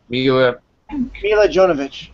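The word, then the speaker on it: Milla Jovovich: Mila Jovovich.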